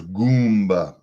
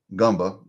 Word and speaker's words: Goomba: said it last video you can pronounce my new name as Goomba not gumba Goomba Goomba think Italian Goomba what is a Goomba